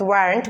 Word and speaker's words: weren't: Okay, so and same here, the where if you say you were singing, if you don't pronounce the t, then it will be wrong.